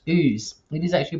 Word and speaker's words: Ouse: house it's like no it's actually pronounced ooze it is actually pronounced